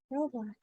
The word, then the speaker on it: Roblox: It rhymes with smelly socks. Yeah. Roblox.